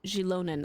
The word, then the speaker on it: Xilonen: That's how they say it. Xilonen. I say Xilonen.